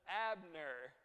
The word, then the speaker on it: Abner: name is ah nerd so that's Abner two syllables right so he kills Abner